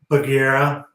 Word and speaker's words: Bagherra: What's the proper pronunciation? Bagherra.